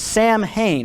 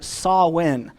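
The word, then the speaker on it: Samhain: later halloween customs was sam hayne now it's actually pronounced more like sawwin and it means summer's end a holiday observed by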